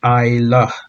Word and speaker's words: Islay: And as you can see, it may look like it's Islay, but it's pronounced as Islay.